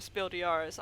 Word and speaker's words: Spiel des Jahres: Sorry, I was just thinking about how nobody ever pronounces the S in Spiel des Jahres.